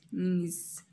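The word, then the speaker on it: knees: نيس ركبتين. هاد كا ما كنطقوهاش، كنقولو ديريكت نيس.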